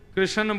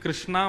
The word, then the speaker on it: कृष्ण: लाल की जय बंधुओं कई लोग इस नाम को अशुद्ध बोलते हैं कई लोग कृष्ण बोलते हैं कई लोग कृष्ण बोलते हैं कोई कृष्णा बोलता है भगवान का नाम शुद्ध उच्चारण करो नाम क्या है कृष्ण भगवान जय श्री कृष्ण कृष्ण